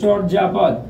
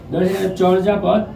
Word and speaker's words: চর্যাপদ: Viewers, পরেরটি লক্ষ্য করো, চর্যাপদ। ভিউয়ার্স, পূর্বে বলেছিলাম যদি কোথাও এমন রেপ থাকে সেইখানে র উচ্চারণ আসে রেপের জায়গায়। চর্যাপদ, চর্যাপদ, রেপ আছে তাই